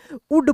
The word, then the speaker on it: would: वैसे ही यहाँ पे देखेंगे WOULD इसको हम लोग क्या पढ़ेंगे, उड पढ़ेंगे। यहाँ पर भी क्या है, एल जो है साइलेंट है।